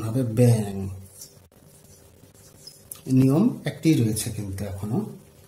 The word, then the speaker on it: ব্যাং: আবার যেমন ব্যাং লেখার সময় আমরা এইভাবে লিখব, কিন্তু উচ্চারণ হবে ব্যাং, নিয়ম একটি রয়েছে কিন্তু এখনো।